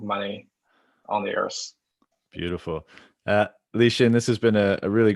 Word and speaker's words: Lixin: My handle is Lixin, Lixin, pronounced Lixin.